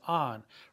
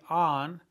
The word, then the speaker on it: han: Has, hemos, on. Remember the H is silent. So if you want to say they have been, it would be on.